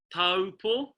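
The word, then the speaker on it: Taupō: A lot of times people mispronounce it and it comes out as an ow. Okay, but it's actually pronounced like the letter O. O. Okay, so we've got a, u. When you say it together, it comes out as o.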